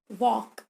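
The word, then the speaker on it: walk: जैसे रोमन लिपि में वॉक, यहाँ एल है किंतु ल ध्वनि अनुच्चरित है, उसका उच्चारण नहीं होता है।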